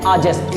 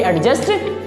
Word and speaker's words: adjust: अगला है बाबू ADJUST, इसको पढ़ते हैं आजेस्ट, इसको कभी भी एडजस्ट नहीं पढ़ते हैं।